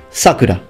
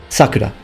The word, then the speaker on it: Sakura: not pronounced Sakura it's Sakura the term means cherry blossom it's just that when you use it as the name of a girl the pronunciation shifts toward the beginning towards the beginning so Sakura whereas when you actually